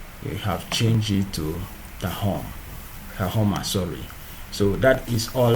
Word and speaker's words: Tahoma: If it is Tahom, you can use Tahom. And it will become the same. Tahoma, not Tahom. It is spelled Tahoma, not Tahom.